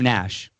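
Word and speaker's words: Naish: the Canadian basketball player even though his Nash is spelled N A I S H. Oh, so I thought it was Nash, but it's not. It's Nash, cuz they do call him Nash.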